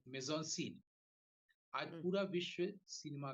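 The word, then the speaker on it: mise-en-scène: पहली बार कोइन किया इसका स्पेलिंग है माइस एन सेन एम आई एस फिर हाइन ई एन फिर हाइन एस एन ई सीन इसको बोलते हैं मेजन सेन अन से अच्छा जिसके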